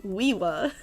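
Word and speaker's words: Uiua: Um, it's pronounced Wiiwa. Woo. Wiiwa.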